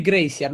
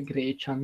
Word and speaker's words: Gracian: Cioè, mi salutate, si legge Gracian. Ok, grazie. Grazie, se no avrei fatto una figura di merda. Gracian ADC. Ma perché leggo sempre Grecian?